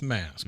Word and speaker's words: Masque: Ms Ms so miss mask okay mask and mask is spelled m s QE like masquerade yuck her real name